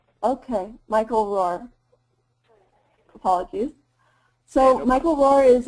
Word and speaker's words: Rohwer: It's roar, just like a lion or a tiger roars. Okay, Michael Rohwer.